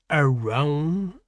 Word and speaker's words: Arawn: with around around and the consensus is is that around is the correct pronunciation for this God so around and the